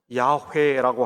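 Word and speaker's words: 야훼: 성경에 하나님의 고유한 이름은 여호와 입니다 요즘 더 정확한 발음은 약해 해라고 하죠 여호와께서 만 참 하나님인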